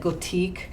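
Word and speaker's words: Gòtic: So they have one called it's spelled Gothic, but I think they say it Gothique.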